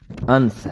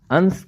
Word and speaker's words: انس: الف نون سین یعنی انس ہے۔ انس کا ایک تلفظ انس ہے اور دوسرا تلفظ انس